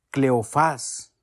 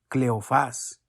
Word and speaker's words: Cleofás: de uno de ellos cleofás con acento en la ultima cleofás y por qué no